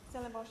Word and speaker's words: Stellenbosch: He's in fact a professor of philosophy at the University of Stellenbosch in South Africa. How do you pronounce it?